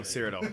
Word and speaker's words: Cyrodiil: It's Only it's Cyrodiil. only in Cyrodiil. Say it right. No, Cyrodiil.